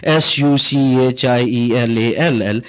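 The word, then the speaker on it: Sauchiehall: And in German and some other language, you pronounce CHI as SHI. So it was SUCHIELALL.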